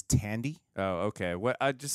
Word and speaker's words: Thandie: So, by the way, I can't stop seeing Thandie Newton anymore now that we know that that's her daughter. I believe the correct, did I say it wrong, pronunciation is Tandy.